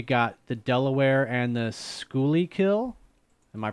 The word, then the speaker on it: Schuylkill: montrose or you got the delaware and the schooly kill am i pronouncing thank you or or the montrose and